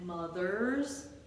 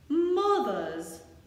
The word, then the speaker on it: mothers: Also, ladies and gentlemen, do we pronounce the R in fathers? Fathers and mothers? Nope. We don't pronounce the R, so fathers, mothers, you got it.